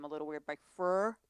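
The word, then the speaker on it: Freur: It's Doot Doot, which is by, I always pronounce their name a little weird, by Fur. Fleur.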